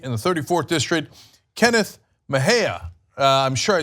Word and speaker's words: Mejia: another California candidate in the 34th District, Kenneth Mejia. I'm sure I said that wrong. So I am the worst with names. Kenneth, how do you say the last name? Kenneth Mejia. Mejia.